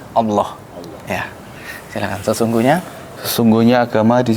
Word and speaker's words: Allah: Kalau sebelumnya menyebutnya Allah, kali ini dalam pronunciation dalam Islam Allah.